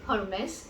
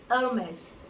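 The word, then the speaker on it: Hermès: The next one is not Hermes. It is Hermes. It is not Hermes. It is Hermes. So the French do not pronounce their H.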